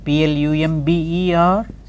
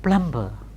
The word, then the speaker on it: plumber: come and you know PLU MB er it is plumber not plumb bill as we very often say this plumber has the plumber come plumber you know not plumb ball plumber so that's a